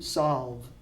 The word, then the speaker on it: solve: had very good pronunciation she pronounces the solve solve with the V not a B of V and just like move we almost add an A at the end move solve okay but